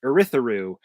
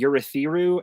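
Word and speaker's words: Urithiru: word uh that's why I pronounce it erytharu and a left car rather than I think it's supposed to be urethiru and alethekar uh I'm a I'm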